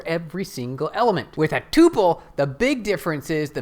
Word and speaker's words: tuple: or tuples tuples tuples how do you say what is the right way to say this T please hey I did it all right tupal that's the way to say it if you're familiar with